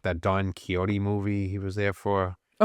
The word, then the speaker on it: Don Quixote: I remember I called it Don Quicksoda. Don Quixote.